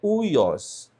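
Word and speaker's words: υἱός: É uma das circunstâncias em que o Y se pronuncia como U e não como Y. Então aqui a pronúncia não é ui y, mas é uios.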